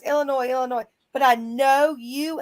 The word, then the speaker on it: Illinois: you uh not pronounce Illinois correctly no I just do that to annoy you I have it ingrained in my head my third grade teacher there is no noise in Illinois see yeah there's a